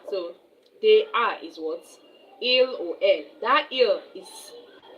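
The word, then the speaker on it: ils: Il even though you pronounce it as il it's having s.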